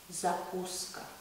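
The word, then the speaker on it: закуска: some pickled vegetables and we have a specific name for this in Russian we say zakuska supporter is a Coast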